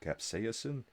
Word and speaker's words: capsaicin: horrible no soda you can't do anything fun capsaosin capsaicin KFC okay I got it capsa again all